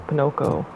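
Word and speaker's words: Pinoko: um they pronounce her name uh Pinoco like that's technically you know she's based off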